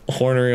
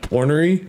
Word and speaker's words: ornery: I like how the dragon sounds like a hornery old man. Ornery? Not hornery.